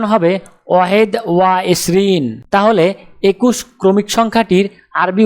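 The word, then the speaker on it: واحد وعشرون: আরবি ক্রমিক সংখ্যা 21 দেখতে এরকম, উচ্চারণ হবে ওয়াহেদ ওয়া এশরিন।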